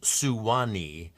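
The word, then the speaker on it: Suwannee: was there's a river s Su W NE three syllables suani became Swan two syllables and you know you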